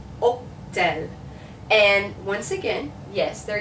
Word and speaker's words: hôtel: So this is hôtel, hôtel.